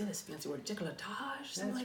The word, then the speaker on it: décolletage: Décolletage?